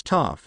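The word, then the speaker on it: Toph: the ground before saying my name's Toof because it sounds like tough the actor then flexed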